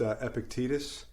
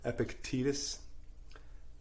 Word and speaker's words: Epictetus: Yeah, it's actually pronounced Epictetus. That's how it's supposed to sound, Epictetus. I say Epictetus. You say Epictetus.